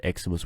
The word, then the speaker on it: Ximus: put in there hey I'm uh from eximus have you got a minute by the way if you if you're wondering why always write eximus with an E if I write it without